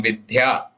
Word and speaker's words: विद्या: Even though in English, a lot of us may write it as vidhya, there is no Mahaprana sound here. Vidya, appropriate spelling according to the way it should be pronounced is vidya.